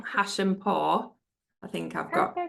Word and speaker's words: Hashempour: Now I'll try and pronounce Beeta's last name, Hashempour.